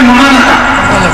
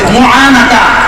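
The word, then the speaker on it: معانقة: কুলাকুলি আরবিতে বলে মহানাকা, কি বলে মুআনাকা, একটু উচ্চারণ করে বলেন মুআনাকা।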